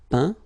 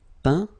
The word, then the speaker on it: peint: Peindre, peint. Teindre, teint. Okay, as usual, final T not pronounced. Atteint, éteint, feint, peint, teint.